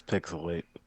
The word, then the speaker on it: PixelHate: our show this is pixelate where the H is silent but the hate is oh so real and I am the